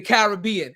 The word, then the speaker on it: Caribbean: Is it Caribbean or is it the Caribbean? How do we pronounce it? The pronunciation Caribbean is an American construct.